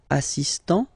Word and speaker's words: assistant: Il est assistant. So don't pronounce the final T here.